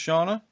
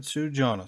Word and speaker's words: Sjana: I thought it was pronounced Sjana, but I asked their reps how to pronounce it, and they said Sjana, so that's what it is.